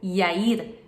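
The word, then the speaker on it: יאיר: Jairo no Novo Testamento Jairo ou Jair se pronuncia em hebraico eir e significa aquele que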